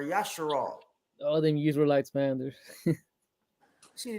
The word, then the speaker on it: Israel: They say Israel. Israeli. We got you people that think they got the real language saying Yisrael. Right? When it's Yasharallah or Yasharal.